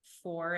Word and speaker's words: Foor: So the first one is Ancestral Medicine by Daniel Foor, and it's not spelled like the number, it's Foor.